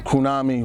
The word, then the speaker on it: Krewnami: So Krewnami rhymes with what? Tsunami. What is a tsunami?